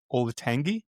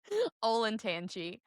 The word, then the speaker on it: Olentangy: mangle it 3 times, is it Olatangi? Do you know what I'm talking about? Olatangi? Olentangy. Olentangy. Olentangy. That is not how it's spelled.